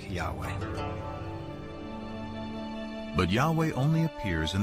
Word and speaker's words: Yahweh: was these four letters which in English would be yhw H which we think were probably pronounced something like Yahweh but Yahweh only appears